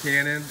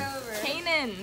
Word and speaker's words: Kanan: I'm here with Cannon. And Cannon, what's it like to be out here at the Dream Center? You just said my name wrong. What's your name? Kanan.